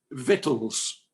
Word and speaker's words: victuals: to michael leaf uh the word is pronounced in english vittles oh well thank you